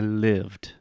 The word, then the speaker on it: lived: hearing you say I live I moveed I lived I lived perfect repeat with me I lived